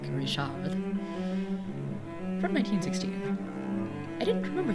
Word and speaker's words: Richard: Richard guo French or if he's French I suppose I should be pronouncing his name more like Rishad from 1916 I didn't